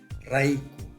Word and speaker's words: -rayku: el morfema enclítico raiku empecemos equivale a la preposición española por que significa a favor de o en favor de aquí hago una advertencia la primera consonante se pronuncia como vibrante múltiple ya sea después de